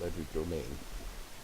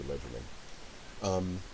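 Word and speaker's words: Legerdemain: Look at Ledger Domain. Ledger Domain, I've heard it pronounced a hundred ways. I say Ledgerman.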